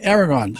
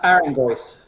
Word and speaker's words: Aragos: Aragons. Am I pronouncing it right, Doc? Aragons? Pronounced Aragos. Aragos. Right.